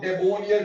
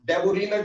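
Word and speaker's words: Döbereiner: माने बच्चों, इसको कई लोग डेबोनियर ट्राइब्स, कई लोग डेबोरीनर ट्राइब्स, किसी भी नाम से प्रोनाउंस करते होंगे। मैं अकॉर्डिंग टू स्पेलिंग प्रोनाउंस कर रहा हूं डेबोरीनर ट्राइब्स, ठीक, क्योंकि प्रॉपर नाउन की प्रोनाउंसिएशन गलत नहीं हुआ करती, इस वजह से बेटा प्रॉपर नाउन के हिसाब से चल रहा हूं, डेबोरीनर ट्राइब्स।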